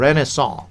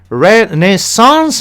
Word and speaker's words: Renaissance: आज का हमारा आखिरी शब्द रेनेसां. रेनेसां? नो सर, इसका करेक्ट प्रोनाउंसिएशन रेनेसांस है सर.